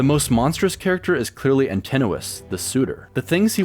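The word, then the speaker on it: Antinous: gods are, the most monstrous character is clearly Antennuis, the suitor. The things he wants to do are Oh, that's how you say his name. Antennuis.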